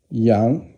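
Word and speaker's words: 羊: So Shen is first tone, and then Yang is sheep, and it's second tone.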